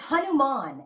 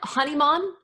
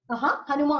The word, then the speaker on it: Hanuman: It's Hanuman, ally. Honeyman? Hanuman. That sounds so cute. Like honey man.